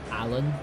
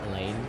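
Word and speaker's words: Alain: He did disrespect on uh Allan. Elaine. I'm just going to call him Allan. I know it's pronounced Elaine, but yeah.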